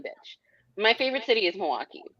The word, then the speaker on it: Milwaukee: First of all, it's pronounced Milwaukee. Milwaukee. What do you mean I'm saying it wrong? I said Milwaukee. Milwaukee. Milwaukee. Milwaukee. Milwaukee. You don't say There's the an L. L. It's We don't Milwaukee. say the L.